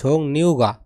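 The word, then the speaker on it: 종류가: আছে বিভিন্ন প্রকার আছে এর উচ্চারণ হবে নিউগা এখানে উচ্চারণ হবে কি হবে ন তাহলে কি দাঁড়ায় ঝোং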